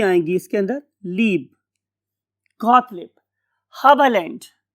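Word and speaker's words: Haberlandt: Got leap, ये दो ये आएंगी इसके अंदर, लीब, गॉटलिब, हबलैंड। इस वाले केस में हम ई आर को आ बोलते हैं, गॉटलिब हाबा लैंड।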